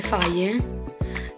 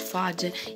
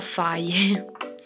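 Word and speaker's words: Fage: e vi dico che si dice fai e perché adesso se lo trovo che lo faccio a dire si pronuncia fi e perché vabbè in tanti virus che dicevano face of age profit fase invece si pronuncia a faye però dice anche qua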